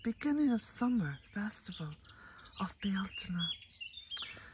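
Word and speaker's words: Bealtaine: of summer festival of bialtona now some people say belting but of course that's the wrong pronunciation bialtena is an ancient celtic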